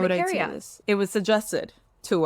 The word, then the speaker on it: urticaria: Urticaria?